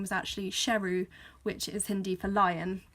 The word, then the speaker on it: Sheru: end so you learned that series actually been mispronouncing his name his whole life his name was actually Sheru which is Hindi for lion so that's why